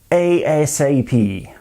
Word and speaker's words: ASAP: Alors ça en Europe, au Royaume-Uni, in the UK, ça se prononce comme un sigle. ASAP. Can you call me ASAP, please? Can you ring me ASAP ? qu'en Amérique, in the US, on le prononce comme un mot, comme un acronyme.